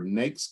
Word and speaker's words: NAICS: Second, you have to know your NAICS codes. It's like rhymes with cakes. NAICS codes and your UNSPSC codes.